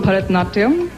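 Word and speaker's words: Bharatanatyam: Help me pronounce it and show us a few steps. Well, it's called Bharatnatyam.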